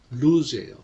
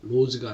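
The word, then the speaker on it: lose: was lost 상실되다라는 뜻이죠 원형이 루즈예요 로즈가 아니라 발음을 조심하셔야 돼요 남편인데 루즈 로스트 로스트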